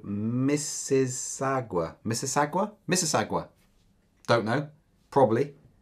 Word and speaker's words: Mississauga: He's from a place in Canada, of which you're also going to need to be able to pronounce properly, called Mississauga.